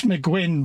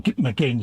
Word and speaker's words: McGinn: So, yeah, if you was in the Zoom the other night, Max McGuinn, bless him, or McGinn, should I say. I keep getting his name wrong.